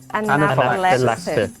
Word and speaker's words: anaphylaxis: Anaphylaxis. Yeah, there's 5 syllables.